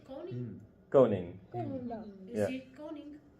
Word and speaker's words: koning: and in Dutch you have koning. You basically do not pronounce that g. It's almost like a ng.